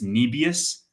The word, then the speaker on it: Nebius: Like for for the autonomous slides, he pronounced Nebius Nibbius, which uh I I mean, whatever. That is the way it's pronounced, though. Nebius, if Jensen says it, that's the way it is.